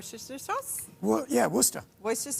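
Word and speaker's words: Worcestershire: either W sauce yeah Worster Wyer sauce don't say the middle syllable just go Worster Boyer sauce yeah and um some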